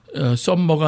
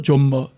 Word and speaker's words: Sommer: 썸머가 아니고 존머.